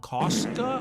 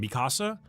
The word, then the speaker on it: Mikasa: Costa. Oh my god. Ka Kasa. I don't know how to say it. Mikasa.